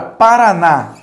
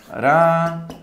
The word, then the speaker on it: Paraná: vai ser oxítona e a palavra paraná paraná vou fazer a separação silábica pa parar na veja que o na é a minha última sílaba acentuada como ela é minha última sílaba acentuada paraná também vai ser uma palavra oxítona a gente vai ter